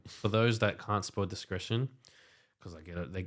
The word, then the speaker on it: Discretion: those that can't spoil discretion because I get it they people get around all the time it's not discreation it's not disconnection d-i-s-c-r-e-t-i-o-n you have no trouble